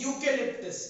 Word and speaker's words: eucalyptus: Next is 10 EUCALYPTUS, इसे पढ़ते हैं यूकेलिप्टस। क्या पढ़ते हैं? यूकेलिप्टस। तो यूकेलिप्टस बच्चों स्पेलिंग कैसे याद करेंगे?